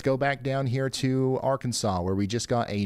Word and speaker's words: Arkansas: Ryan, it's pronounced Arkansas.